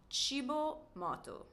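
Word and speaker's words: Cibo Matto: It's cibo motu.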